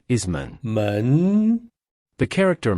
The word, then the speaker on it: 門: In Chinese, its pronunciation is 门.